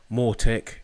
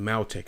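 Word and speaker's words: Mautic: We've got Nextcloud running on there, Mortec, which is the, I think it's Maltec it's pronounced, which is our automated marketing system, and Odo, which I haven't finished installing yet.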